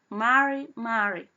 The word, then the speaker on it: Mari: Primero, la palabra Mari es con la R cargada, y segundo, entre mujer a varón no se trata de peñi, solamente de varón a varón, ¿ya?